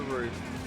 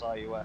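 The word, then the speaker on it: RUF: or a roof, or even though the pronunciation is roof, everyone says IUF because it's all caps.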